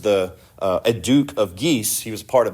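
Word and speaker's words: Guise: and this is the geese family the geese family. And if you want to know how that's spelled, it's gu i s e. It's French here, not geese like ge e s e.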